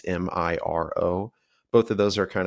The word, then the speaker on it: Miro: It's either Miro or Miro. I don't know how to pronounce it. It's Miro.